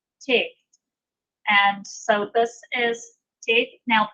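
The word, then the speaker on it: טית: Now this is not pronounced like our T, where we will put the tip of our tongue right behind the top front T. This is pronounced with the tip of the tongue pulled back a little bit further, pressed up against the hard palate. So it's a little bit softer than our T.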